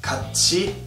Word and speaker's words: 같이: Last but not least, if a syllable ends with tiet and the following syllable starts with e, that tiet will sound like chiet. This is the case with words like 같이 and 붙이다.